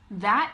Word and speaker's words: that: on the other hand if you say the word that that that th sound is voiced okay so you can